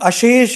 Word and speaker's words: अशेष: शेष धर्म with num piece of caution you know न वी प्रोनाउंस दिस दज वर्ड्स में सीम लाइक शेष एंड धर्म बट एक्चुअली बिकॉज ऑफ ट संधि एंड समास प्रक्रिया च हैपन इट इज एक्चुअली अशेष एंड अधर्म बट न combined it become like this